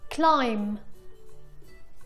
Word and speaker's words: climb: ولكن اسمعوا هون. Climb Doubt. هون بكلايم وداوت ما نطقنا حرف الـ B.